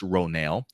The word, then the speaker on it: Ronal: that Winslet's character is a Na'vi warrior, Ronal, pronounced Ronal, and it says along with Cliff Curtis, Ronal